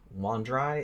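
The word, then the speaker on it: Wandrei: fiction and fantasy writer Donald Wandry, is I think how you pronounce his last name.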